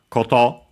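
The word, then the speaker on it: こと: After it, we have koto. I've just seen noun, which means thing as in matter, accent on the last mora.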